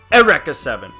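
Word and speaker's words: Eureka Seven: Um, my favorite anime of all time, which I've said before, is Eureka 7, which I know it's pronounced Erica 7, but it's spelled like Eureka 7.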